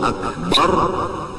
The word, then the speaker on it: Akbar: Kalau Allahu Akbar bujur-bujur, jangan membaca A menjadi Ain, Akbar dibaca Ain seperti Allahu Akbar. Kalau ya anak menuruti Arab Allahu Akbar, itu hamzah dibaca dengan Ain, maka hukumnya kada sah takbirnya.